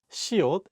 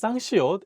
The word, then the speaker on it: 시옷: Let's go over how to pronounce siot and 쌍시옷 correctly.